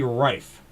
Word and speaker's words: Rife: So apparently, for the number 97, it's actually Rife, not Riff. I thought it was Riff, but no, it's Rife.